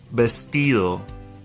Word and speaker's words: vestido: Vestido. Vestido. The V sounds like a B, has the B sound.